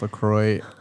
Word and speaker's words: LaCroix: would say it's pronounced lacroix i'm almost 100 sure like 99.9 percent sure if you go to the lacorio website it says it rhymes with enjoy so okay i didn't